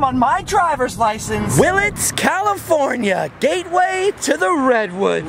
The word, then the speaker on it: Willits: Mainly because no one can seem to pronounce Willits. They say Wallace, Willis, Phillips, Williams, but not in this town.